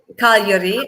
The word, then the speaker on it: Cagliari: I can't even pronounce it. It's Cagliari, and it is in Sardinia.